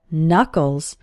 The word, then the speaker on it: knuckle: your hand are called knuckles the first K in this word is silent and if you hold